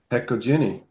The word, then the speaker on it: Hecojeni: And I pronounce it Hecoini.